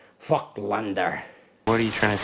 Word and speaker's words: Voigtländer: And of course, Voigtländer is a German name. But of course, we anglicize that by saying Voigtländer. But in German, I do believe it's pronounced something more like Voigtländer.